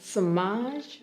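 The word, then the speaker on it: Semaj: world that people deserve my name is samage brown and that's spelled s e m a j like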